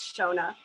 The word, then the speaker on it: Shonagh: give it to her where she can probably pronounce her name correctly thank you lex so much and yeah it's shona but that's that's fine i agree that's all